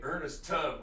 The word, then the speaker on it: Ernest Tubb: When I wrote this, I wanted to rhyme something with jitterbug, and I was struggling, and I thought, wait, Ernest Tubb rhymes with jitterbug.